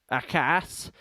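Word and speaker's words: Akaa: Akka. Now, he's actually older than the town. So Akka, or in Finnish it's pronounced Akas, is a town and municipality in 100.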